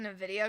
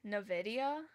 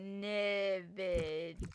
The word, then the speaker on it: Nvidia: Wait, say Nvidia again. Nvidia. That how you say it? Nvidia. N Oh, I guess I'm adding an I. Nid.